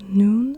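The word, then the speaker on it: نون: we are talking about so noon an n Sound and now we have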